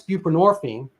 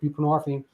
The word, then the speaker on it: buprenorphine: fair Suboxone came along and that's buprenorphine and and people like what is that well I mean the hint is it rhymes with morphine which is derivative from